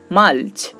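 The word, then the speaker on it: mulch: তেমনি করে দেখুন মালচ, দেখুন এখানেও আমরা এল লেটারটি পাচ্ছি, তারপরে CH যুক্ত হয়েছে, তাই এখানে তার উচ্চারণটা হচ্ছে চ এর মতো।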